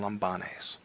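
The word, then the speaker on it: λαμβάνεις: Rule 1.1 tells us if the last syllable is long, we can only go back 2 syllables. That means we're going to put the accent on Lambanes.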